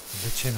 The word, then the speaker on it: lichen: Lichen or lichen, whichever way you want to pronounce it.